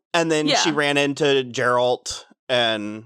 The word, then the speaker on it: Geralt: then she ran into Geralt and it's Jared's a hard G it's Geralt Harold sorry so what